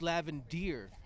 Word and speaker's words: Lavender: lavender who definitely is correcting my pronunciation of the name uh it's lavend Deere so I do truly